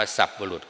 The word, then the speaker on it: สัตบุรุษ: สัตว์ ผู้ ชาย นะ สัตบุรุษ อ่าน ว่า สัตบุรุษ มา จาก คำ บาลี ว่า สัปุริสะ สัปุริสะ แปล ว่า แปล ว่า สับบุรุษ อ่าน ว่า สับบุรุษ ก็ ได้ แต่ ท่าน เสีย เขียน ว่า สัตบุรุษ หมาย ถึง คน ดี